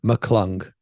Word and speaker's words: McClung: talking about Matt mccon is that how you pronounce his name McClendon Mack McClung Matt McClung Mack m-a-c I just I just